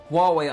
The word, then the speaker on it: Huawei: now stepping in the 5G but guess what Huawei unveils world's first 5.5g Network and yes that's how it's pronounced pretty weird right anyways got to love